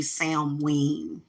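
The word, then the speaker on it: Samhain: we get towards Sam Sam Wing it's actually sound ween okay Sam Wayne is how you pronounce sound pain but I like saying Sam Hayne as we get closer the veil gets thinner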